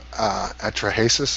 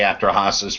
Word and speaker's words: Atrahasis: Because the Ugarit Epic of Atrahasis, I believe it's pronounced. I always say Atrahasis. What's the difference?